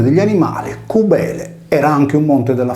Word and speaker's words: Cibele: Cosa ha a che fare l'abitazione agropastorale, detta in sardo suguile, cubile, cuvile o covile, con la divinità di Cubele, pronunciata erroneamente Cibele?